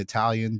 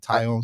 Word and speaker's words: Taillon: I said Italian, but Taillon sounds right.